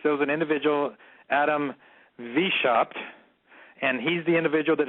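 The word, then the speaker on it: Weishaupt: was an individ Adam vop and he's the individual that designed Washington DC you've heard of him it's his name spelled with a W Wei s h a u PT heard of him right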